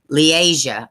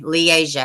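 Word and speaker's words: Li'Aziah: building leading to the apartment, not knowing how, pronounce Leasia. Oh, okay. Leasia had died.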